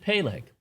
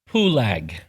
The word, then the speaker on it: Peleg: However, if you want to pronounce that name properly to the Hebrew, you would change the vowel sounds. You would not pronounce it Peleg. You would pronounce his name to mean it was divided, Pulag, as in Mount Pulag,